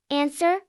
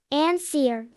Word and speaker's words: answer: Answer. Silent. W. Answer.